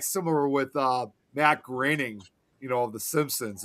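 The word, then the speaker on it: Groening: I was It's kind of like similar with uh Matt Graining, you know, of the Simpsons. And a lot of people always thought his last name was supposed to be pronounced Matt Grooning.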